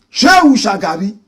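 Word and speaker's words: Shehu Shagari: Shu. Shagari. Shu is spelled S H E H U. Shagari is S H A G A R I.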